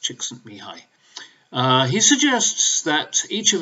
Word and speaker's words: Csikszentmihalyi: to pronounce that name the one that spelt sent me Holly well it's actually pronounced it's Hungarian is pronounced Csikszentmihalyi he suggests that each of us is born